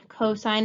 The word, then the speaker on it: cosine: abbreviated s i n cosine is like co sine you cosine on a house cosine on a loan it's abbreviated with cos